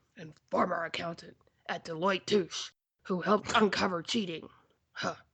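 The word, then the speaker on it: Touche: former accountant at deoe touch who helped uncover cheating huh the like douche that rhymes with douche which could describe our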